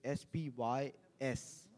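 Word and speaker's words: spys: the domain which is s py s so I would I would pronounce it as spy s spy and then s capital another word or a letter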